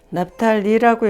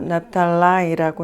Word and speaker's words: Naphtali: And the land of Naphtali, 납탈리라고 읽는 사람도 있고 납탈라이라고 읽는 사람도 있더라고요.